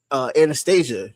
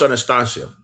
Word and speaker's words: Anastasia: I mean, also, not to mention a famous figure, Anastasia, the real Anastasia, not the Disney version of Anastasia.